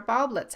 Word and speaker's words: Baublitz: This is It's a Mystery Podcast, and I'm here today with Sandra Baublitz. Hi Sandra. Hi, Alexandra. Am I pronouncing your last name right, by the way?